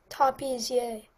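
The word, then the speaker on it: tapissier: number nine oh hello your word is yay topiz yay can I have all the information yes the word is pronounced tapes yay it's a noun it's from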